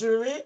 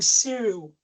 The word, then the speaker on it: Zuri: Hashi says, my son name is Zuri, but his friend in school call him Cyril. He did complain and I told him to inform his friends about the right pronunciation. However, they still hasn't stopped calling him Cyril. What should he do? They're calling him Cyril. It's not a cereal. It's not a breakfast.